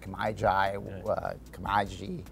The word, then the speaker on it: Kemiji: They don't know how to pronounce it. Kemiji.